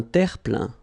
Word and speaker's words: terre-plein: Un terre-plein. Remember this E-I-N nasal. So it goes in your nose and it's un plein, plein.